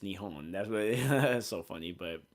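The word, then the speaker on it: 日本: uh Japanese they actually it's actually pronounced nion that's it's not Japan it's nion that's that's so funny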